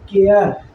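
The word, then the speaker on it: care: आर के लिए र, और ई का कोई उच्चारण नहीं होता, इसलिए ये पढ़ा जाएगा केयर, और इस केयर का मतलब हो जाएगा ध्यान।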